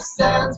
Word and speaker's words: Sans: The sans part is actually French, so it should sound like Comic Sans.